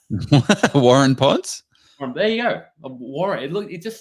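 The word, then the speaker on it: Waurn Ponds: Warun Ponds?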